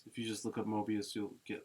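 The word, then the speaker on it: Moebius: you just look up Mobius you'll get like but it's spelled funny it's like m o e b i u s yeah yeah um but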